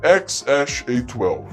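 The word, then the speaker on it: X Æ A-12: O X, ele é X, né, de X. A E, o Elon Musk disse que pronuncia como Ash. E o A12 se pronuncia do jeito que se fala, que é A12, o que faz com que a pronúncia certa seja X-Ash-A12.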